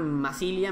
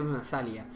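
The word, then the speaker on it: Massalia: En plan Masilia en vez de Masalia. Pero bueno. Genua, no sé qué. O sea, creo que nos lo han quitado Masalia, tío. Creo que Cimmeria nos quitó Masalia.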